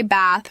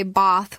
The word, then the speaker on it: bath: British speakers use a longer a sound like the a in father. So, Americans say bath with a short vowel while British speakers say bath with a longer vowel.